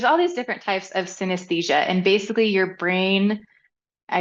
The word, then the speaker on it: synesthesia: Your bio ends with a statement that you, and let's make sure I pronounce this correctly, you have synesthesia.